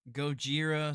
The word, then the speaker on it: Gojira: I watched the original subtitled, so it's Oh, not so like the you watch American version, the Gojira.